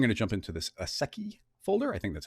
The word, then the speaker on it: ASCII: But, oh, ASCII.